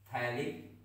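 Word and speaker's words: phthalic: तो उसको हम लोग थैलिक एसिड बोलते हैं, क्या बोलते हैं थैलिक एसिड ठीक, क्या बोलते हैं थैलिक एसिड, पी एच होता है नहीं पी टी एच होता है ठीक है थैलिक एसिड।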